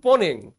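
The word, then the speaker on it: Mponeng: থেকে নমুনা আসছে আবার দক্ষিণ আফ্রিকার পনেং খনি উচ্চারণ কিন্তু পনেং এমপি দিয়ে শুরু পনেং খনি উপরের ছবিটা দেখো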